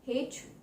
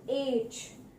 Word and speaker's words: H: You will hear people calling it, pronouncing it like हेच। हेच बहुत ही common है, people से हेच, हेच। India में if Hindi is your first language या from the Hindi regions, तो वहां से आप बोलोगे एच। तो ये सारे प्रोनाउंसिएशन इसके absolutely incorrect. The correct pronunciation to this alphabet letter is एच, एच, एच, एच।